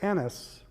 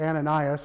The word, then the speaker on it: Annas: And brought him first to Annas, or Ananias, as it's sometimes pronounced, who was the father-in-law of Caiaphas, the high priest that year.